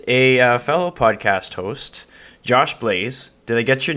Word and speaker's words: Blais: fellow podcast host josh blaise did i get your name right do they get the pronunciation rate uh well it is blade but i like blaze better so let's go with that that's all good there